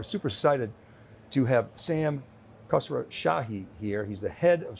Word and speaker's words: Khosroshahi: We're super excited to have Sam Khosroshahi here.